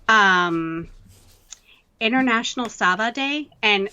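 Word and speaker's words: Sawa: something called um international sava day and sava spelled s-a-w-a but it's pronounced like with a v um and it's actually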